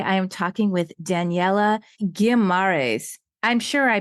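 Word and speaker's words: Guimarães: My name is pronounced Daniella Guimaraes, but I have Guimaraes.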